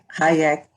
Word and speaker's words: Hajek: We are hosting Miss Hyatt. I'm so sorry. How do you say your last name? That's right. Hyatt.